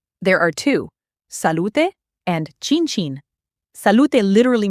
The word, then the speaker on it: salute: Salute is three syllables. Salute. Stress on the middle, lu, and that final e is not silent. Salute, not salute like English.